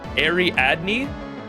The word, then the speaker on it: Ariadne: How do you say it? Ariadne. Ariadne's thread.